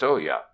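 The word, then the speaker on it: olla: swings from a beam is and oh yeah pronounced olya the swarthy Mexican laborers and conical straw hats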